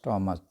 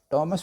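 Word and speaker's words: Thomas: थॉमस। थॉमस भी इसे कहते हैं, थॉमस भी कहते हैं, दोनों तरह से इसको प्रोनाउंस कर सकते हैं, कि इस नज़म के ऊपर जो है एक तनकीदी जायज़ा इसका आप लें।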